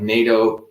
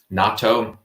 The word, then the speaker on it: natto: to be talking about NATO kynes. First of all, um, a lot of people don't know what is natto, nato, however you want to pronounce it's either natto um, uh, or nattokinise.